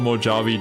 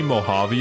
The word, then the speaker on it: Mojave: French oh man the Spanish J which is pronounced H oh my God it is I I spent the entire stream calling it the mojabi desert nobody thought to